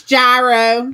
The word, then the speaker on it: gyro: salad for those of you that want it pronounced correctly it AO it's gyro yeah AO yeah uh Andy we don't even